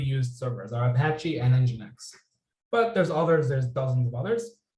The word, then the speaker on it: nginx: really commonly used and this nginx it's not and Jinx it's nginx that's the way it's pronounced nginx is also a very commonly used